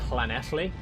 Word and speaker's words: Llanelli: So, but is that only if it's at the start of the word, or do I do it for the second one as well? Is it Llanelli? Both.